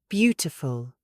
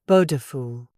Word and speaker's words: beautiful: Beautiful. Not bodeful.